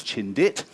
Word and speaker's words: Chindit: The British troops given the name Chintthy in Burmese can even sound a bit Chindi but basically the British troops mispronounced it and it ended up as Chindit and the name Chindit eventually stuck.